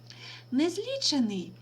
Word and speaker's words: незлічений: слова незлічений і незліченний незлічений наголос падає на звук І на корінь ліч і це слово означає